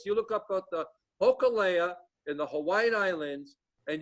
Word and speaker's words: Hōkūle'a: Hōkūle'a. Spell that for me. Holoke'au. But it'll come up. If you say Hōkūle'a, it'll come up.